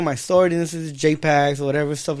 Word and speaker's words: jxpaz: So the secret is that the X is silent, so it's just I knew it. What is it? The X is silent, so it's just jxpaz.